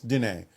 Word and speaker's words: Diné: I've gotten a book about a medicine woman from the I hope that I pronounce this right, the Diné people, the Navajo Diné, people. yes, Diné.